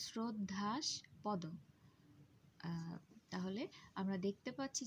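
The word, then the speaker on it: শ্রদ্ধাস্পদ: শ্রদ্ধাস পদ শব্দটির ক্ষেত্রেও আমরা উচ্চারণ করার সময় বানানে তালব্যস থাকলেও উচ্চারণ করছি শ্রদ্ধা, উচ্চারণটা হচ্ছে শ্রদ্ধাস পদ।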